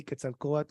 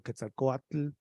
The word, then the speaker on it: Quetzalcoatl: And if you can't say Quetzalcoatl or Quetzalcoatl, you could say Quetzalcoatl too. It's fine. Nothing's gonna happen. The world's not gonna come to an end.